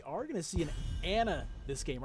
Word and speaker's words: Ana: So we're not going to see that, but we are going to see an Ana this game, or Ana, I think is actually supposed to be pronounced.